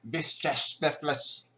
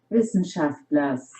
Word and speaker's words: Wissenschaftler: How do you say this word? Okay, I am actually going to Google how to say this word because I'm very curious. Let's go Google Translate. Vishtefles. Wissenschaftlers. Wissenschaftlers. Wissenschaftlers. Wissenschaftlers. Wissenschaftlers. Wissenschaftlers. Wissenschaftlers. Wissenschaftlers. Okay, my Wissenschaftlers. Okay.